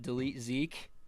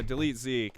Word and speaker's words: DLTZK: What did you think of, I think you pronounce it Delete Zeke, DLTZK? Yeah, Delete Zeke.